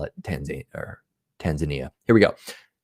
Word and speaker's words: Tanzania: say for example in tanzania did you know they pronounce it tanzania not tanzania it's true i won't